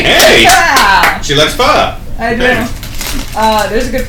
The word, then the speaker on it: pho: I told you about that pho house. At Acton 146. I never know how to pronounce it.